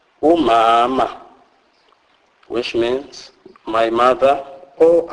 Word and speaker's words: umama: M is pronounced as mm. Mm. Is pronounced as in the English word man, e.g. umama, umama, which means my mother or our mother.